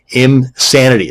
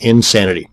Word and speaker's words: Imsanity: And another one is Imsanity. That's I-M Sanity, not Insanity.